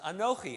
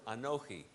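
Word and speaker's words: אָנֹכִי: all he got was the first letter of the first word anoki which is a silent letter so what did god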